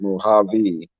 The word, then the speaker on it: Mojave: Wayne said a capital J is a lowercase h, and Mojave is pronounced Mojave.